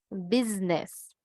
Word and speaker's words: business: es de esa palabra que se escriben con s Pero tú pronuncias Zeta business y pausas Will